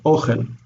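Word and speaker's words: אוכל: Notice it's accented on the next to last syllable. Ochel.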